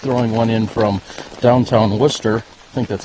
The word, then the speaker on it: Worcester: bars be almost throwing one in from downtown Worcester think that's how it's said anyway Worcester that's right Worcester and one but when we were renting our